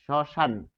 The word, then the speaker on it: শ্মশান: তাহলে শব্দের আদিতে রয়েছে তালব্য সহসন্ত যোগ ম তাহলে শব্দের আদিতে থাকার কারণে এটি কি হবে উচ্চারণে আমরা দেখব যে সে উচ্চারিত হবে না ফলে সান এই উচ্চারণটি হবে সশান আর এখানে একটা চন্দ্রবিন্দু